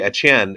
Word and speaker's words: Etienne: It's actually Etienne, and it's French Cajun. And I have a theory that it's the same last name, just spelled different ways. I think Etienne and Etienne are the same because it's not Etienne, it's Etienne.